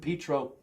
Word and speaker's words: Pietro: Pietro.